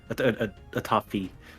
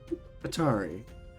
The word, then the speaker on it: Atafi: No, Atafi. Atari. No, it's Atafi. You got it wrong.